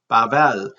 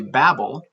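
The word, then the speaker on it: בבל: Bait, bat, bain, bana, bayrach, barit, basar, bavel. So this one's interesting because the first letter is the ba sound, and the second syllable of vel. You know, we say Babel, but they say Bavel.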